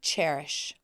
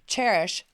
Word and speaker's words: Chairish: for design and SPO cherish like a chair not spelled like cherish c h a i r like a chairish how cute is that